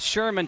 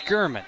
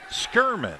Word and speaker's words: Skirman: He's not Sherman, Tom. It's Skirman. Skirman.